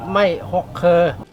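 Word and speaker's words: ไม้หกเครือ: ตัน มี ความ เหนียว ใน ภาษา ไทย ใหญ่ จะ ออก เสียง เรียก ว่า ไทย ใหญ่ เรียก ไม่ หก เคอ มา ดู การ เตรียม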